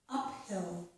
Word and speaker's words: uphill: However, I put an example where PH does not make the F sound, and here it is the word uphill.